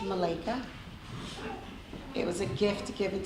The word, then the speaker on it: Malakah: But before I begin, my name is pronounced Malika.